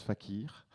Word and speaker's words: FACIR: on est des artistes on fait ce qu'on veut donc ça se prononce fakir le thème du jour